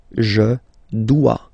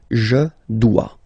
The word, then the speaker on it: dois: Okay, remember final S is not pronounced. Je dois. OE, when you combine the two, you get the sound wa wa wa. Je dois.